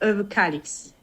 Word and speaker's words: Överkalix: En fait le O se prononce, le O avec 2 ronds se prononce E et le R se prononce pas beaucoup, donc c'est Överkalix.